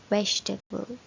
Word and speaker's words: vegetable: but there is not there are only three syllable vegetable can you see the